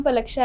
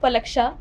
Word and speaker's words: पलक्षा: हाय, मेरा नाम पलक्षा है। बहुत से लोग मेरा नाम गलत प्रोनाउंस करते हैं, सीख लो पलक्षा।